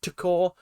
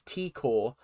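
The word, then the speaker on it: T'kor: Tikor. I've got to remember to call her Tikor, because in my head the accent, not the accent, the apostrophe is Takor, but it's not, it's Tikor.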